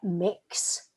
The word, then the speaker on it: Mx: how to say it so the title is mx right yes yeah so i've heard that pronounced and that as uh mix okay thanks um but